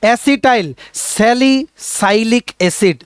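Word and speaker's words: acetylsalicylic acid: এসিটাই এসিটিল স্যালিক বা তোমরা এভাবে উচ্চারণ করতে পারো অ্যাসিটাইল স্যালিসাইলিক এসিড অসিটাইল স্যালিসাইলিক এসিড option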